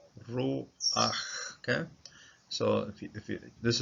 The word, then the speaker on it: ruach: Pata is a vowel, and it's called a frutifa because it sneaks itself in at the start of the syllable, this last syllable, ruach, okay.